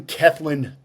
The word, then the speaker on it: Cellan: don't know if that is a a British pronunciation or well it's it's somewhat British you you did great by the way it's kin Jones and it is from Wales Wales I